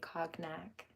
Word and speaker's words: cognac: region of conac yeah see it's softer it's not Cognac that's American mispronunciation it's cognac 1122 it's Brandy to